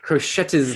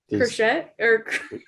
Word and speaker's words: crochet: Why is there a T in that word? Crochet? Yeah, exactly. Crochet? All the little squares. Because it's French, so it has to have an extra syllable in there.